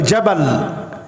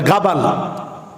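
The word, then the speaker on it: جبل: পাহাড় বিষ্টিত মরুময় জায়গা ওই জায়গাটাকে এরাবিয়ানরা বলে জাবাল জাবালি জিমকে অনেক জায়গায় গাইনের মত উচ্চারণ করে বলে গাবাল এই জায়গাটা জাপানিদের খুব পছন্দ হইছে।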